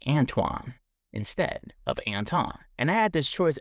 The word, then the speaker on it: Antoine: So my name is Anton, and it's spelled A N T O I N E. It's pronounced Anton. Growing up, people would always say Antoine instead of Anton.